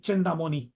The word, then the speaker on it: Chenda: may not be right chenda chenda am I right is this right yes you are right hi I'm you can